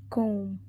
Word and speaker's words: comb: correctly spelled stressed word decide the silent letter in the word comb it is B silent letter in the